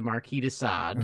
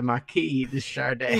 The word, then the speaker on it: Marquis de Sade: out is by the Marquis de Sade. Ooh, but Mills pronounces it as the Marquis de Chardin. Yeah, that was really like it is the musical artist Chardin.